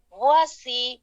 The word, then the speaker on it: voici: Faites attention à la prononciación de la V labiodental. Voici quelques photos.